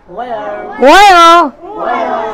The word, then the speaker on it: where: এইবারে এই জায়গাতে এইসের একটু উচ্চারণ করতে হয়। অনেকে আমাকে বলেছেন ওয়ার ওয়ার বলছেন, আসলে ডাইরেক্টলি ওয়ারটা বলে না নেটিভেরা, ওয়ার একটু আনা এইসের উচ্চারণ করে, আর অন্য যে কোনোতে এইসের উচ্চারণ হয় না। ওয়াই, ওয়েন, ওয়েন, কিন্তু ওয়ার এরকম ভাবে বলে না, বলে ওয়ার, ওয়ার, একটু এইসের উচ্চারণটা হয় ওয়ার।